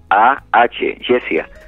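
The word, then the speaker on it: Jesiah: Me preguntan de su nombre, se llama Jess, mi hija se llama Jessia, se escribe J-E-S-I-A-H, Jessia.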